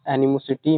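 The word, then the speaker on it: animosity: Enemy, एनिमो कैसे pronounce करना है, एनिमी की तरह आ रहा है ना इसमें से, एनिमी।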